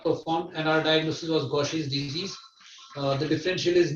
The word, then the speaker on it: Gaucher: it gaucher's disease but that's wrong because gosher suggests that it's a german name but this was described by a french physician gaucher pronounced gaucher and that's why it's gaucher's disease all of us know